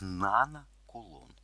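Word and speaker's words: нанокулон: Треба записати в метрах nkl з читається як Нана кулон Нана - це приставка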